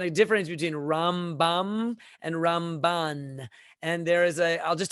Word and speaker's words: Ramban: And when we want to say Nachmanides' name, we accent it on the second syllable, Ramban.